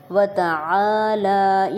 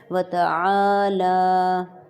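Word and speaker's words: وتعالى: یہاں پہ جو کامن مسٹیک یہ ہوتی ہے کہ ہم وتعالی پڑھتے ہیں، وتعالی، عین کا بھی نہیں لحاظ رکھا جاتا، خیال رکھا جاتا، اور نہ ہی یہ دیکھا جاتا ہے کہ لام کے اوپر سٹینڈنگ زبر ہے، تو ان دونوں کو ہم برابر کھینچیں گے۔ وتعالی جدک، دال پہ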